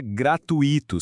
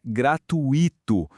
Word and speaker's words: gratuito: Muita gente fala gratuito separando as sílabas, né? Mas o certo é que o i fica junto formando um ditongo. Então, a pronúncia correta é gratuito com a força toda ali.